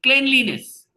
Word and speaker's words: cleanliness: Clean, cleaned, cleaning, cleaning, cleaning, to clean, in cleaning, on cleaning, off cleaning, before cleaning, after cleaning, unclean, reclean, cleanliness. The pronunciation is different.